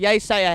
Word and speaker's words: Yeasayer: from London he's Anand but it's actually Anand without here like yay say a headline in the main